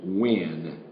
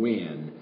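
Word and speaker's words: Nguyen: long time but uh I understand her last name is when just like w i n but it's spelled n guu ye n when and she is Vietnamese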